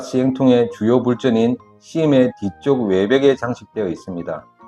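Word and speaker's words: ສິມ: 주요 건물은 심 혹은 불전이라고도 불리며 특히 다층의 지붕이 눈에 띕니다. 심이 우리가 심카드 할 때 심하고 발음이 거의 같습니다.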